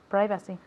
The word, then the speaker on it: privacy: Privacy. Good. Repeat again. Privacy. Perfect. Excellent. Privacy. Privacy. Okay, so notice here the pronunciation is I.